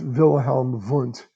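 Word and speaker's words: Wilhelm Wundt: it's like impossible but if you're dealing with a real german and you see a w it's pronounced as a v so that's wilhelm vunt uh and uh yeah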